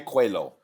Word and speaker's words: Coelho: Sarah Villegas and, to say it correctly, Natalia Coelho.